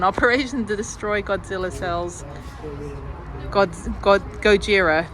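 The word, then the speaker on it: ゴジラ: Gojira, that's how you say it in Japanese. Gojira.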